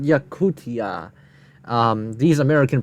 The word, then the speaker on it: Yakutia: their fields for example residents of Russian yakusa have been specifically yakutia it's called yakutia um these American pronunciations